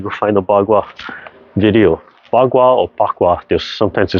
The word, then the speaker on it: Bagua: Bagua or Bagua, sometimes they spell it P-A-K-U-A, commonly spelled B-A-G-U-A, Bagua.